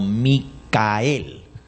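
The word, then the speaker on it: מיכאל: un significado muy especial ese nombre en hebreo no se dice Miguel sino micael Miguel y sus ángeles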